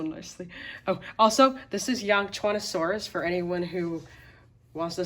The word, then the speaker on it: Yangchuanosaurus: Oh, also, this is Yangchuanosaurus for anyone who wants to say it correctly.